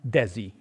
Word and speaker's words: DESI: for another astronomical operation, this Dezi, or the dark energy scientific instrument, is phonetically dezi, not a spaceship, not